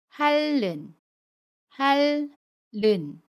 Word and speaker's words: 핥는: 뒤의 첫 소리잠 이니 오면 2일 은 밀로 발음 해요 그래서 할는 8 른 이라고 받음 해요 엿 바침 릴 t 웃은